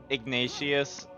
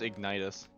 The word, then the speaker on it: Ignitus: out, he looked past Ignatius. And was, like, just slightly shaking his head before walking past them. I'm guessing I got the name wrong. Damn. Wait, no, I'm dumb. It's Ignitus. No, I don't.